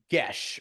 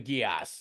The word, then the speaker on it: geas: It's a cooler way to say it rather than saying Gesh, but it is technically it is a Gaelic word, I believe, and it is pronounced Gesh rather than Geass, even though Geass is a cooler way to say it.